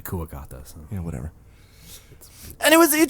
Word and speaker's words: Kuwagata: Boomer Kawanger. I always pronounce it Kawanger. Well, it's supposed to be Kuwagata.